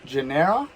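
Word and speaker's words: Tjaynera: and we went to genera it's like t-j-a-y-n-e-r-a i think it's a silent t um and it was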